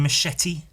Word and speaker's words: Machete: Machete. I have to pronounce the T in Machete when I say it, because if I say, hello, today I'm drawing Machete. See how silly that sounds?